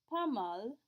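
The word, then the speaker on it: pas mal: that you're not bad pamal very common answer P we still don't pronounce our s but we do pronounce the L there are four letters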